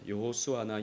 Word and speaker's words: 여호수아: 예수와라고 되어 있어요 예수와 근데 히브리 표기법은 사실 똑같습니다 여호수아나 예수아나 발음을 어떻게 하느냐에 따라서 예수와가 될 수도 있고 여호수아가 될 수도 있죠이 이름이 이제 헬라어로 음역하면